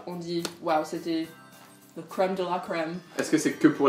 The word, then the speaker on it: crème de la crème: Crème de la crème, prononcé en anglais. Crème de la crème.